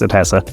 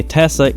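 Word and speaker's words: ATTESA: Nissan's Innovative atessa system or at Esa I assume it's pronounced atessa this was Nissan's four-wheel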